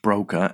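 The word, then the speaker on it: Broca: Brokers pronounced Broka area is a specialized part of the brain in the left frontal lobe responsible for language and speech production.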